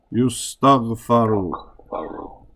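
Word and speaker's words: يُسْتَغْفَرُ: We say yustaghfaru. We put a fatha on the one before the end.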